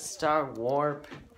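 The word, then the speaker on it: Starwarp: so you know how my name is star warp and it rhymes with star wars this might come a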